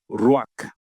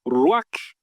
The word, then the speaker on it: ruach: A palavra espírito em hebraico é ruach. R-U-A-C-H. Transliteração, né? Mas eu não sei a pronúncia certa, mas talvez essa parte final é quase mudo.